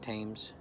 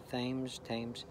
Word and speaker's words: Thames: I think it's pronounced Thames. Thames.